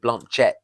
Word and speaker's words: Blanchett: I think she pronounces it Blanchett.